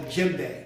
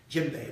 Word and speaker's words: djembe: And this is called a djembe. It's a particular type of instrument. Djembe, right. And djembe actually starts with the letter D.